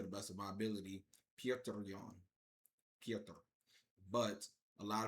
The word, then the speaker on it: Petr: best of my ability, Petr Yan. Petr. But a lot of people say like Peter or uh uh uh Petra but uh I believe the correct pronunciation of it in Russian is Piotr Piotr Yan.